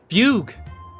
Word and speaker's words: Fugue: Fugue. So it's pronounced fugue then.